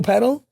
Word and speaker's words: padel: And um padel. Okay. Padel is a sport of the gods. I'm so glad you pronounced it correctly.